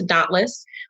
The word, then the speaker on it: DÔNTLƏS: guess just spelled dauntless we spell it d-o-n-t-l-e-s so that's d-o-n-t-l-e-s but we pronounce to dauntless uh couture uh and